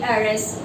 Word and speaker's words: heiress: So where H is silent, there are some words in English where H is silent, do place then an article in front of them.